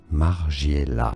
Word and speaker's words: Margiela: Margiela. Margiela is how it's said in French.